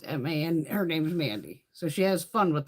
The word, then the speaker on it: MVNDI: It's Mandy makeup, but she spells it MVNDI. It's spelled different. But it's still Mandy. It's M-A-N. Her name's Mandy.